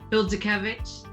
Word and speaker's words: Bildzukewicz: Bildzukewicz?